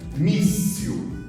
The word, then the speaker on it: míssil: Agora, se for a penúltima, por exemplo, míssil, míssil, míssil, olha lá, mi, forte.